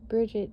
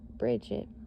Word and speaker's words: Brigid: All right, BRIGID, pronunciation, bridge, and then Jid, Jeed, is the Celtic triple goddess known as keeper of the sacred fire.